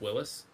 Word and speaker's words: Willys: it's pronounced Willis. I did not know that. Yeah, What it's I the like George, G? I thought yeah, it was like Willy apostrophe S, like, possessive.